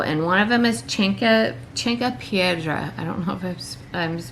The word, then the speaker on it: Chanca Piedra: Alright, so there's a couple things I'm going to take after my flush though, and one of them is Cinque Piedra. I don't know if I'm pronouncing it right, but it's spelled CHANCA PIEDRA.